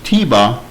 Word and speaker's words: Tebah: on the bottom and the Word was no longer pronounced toit but was now pronounced Tiba instead and what happened is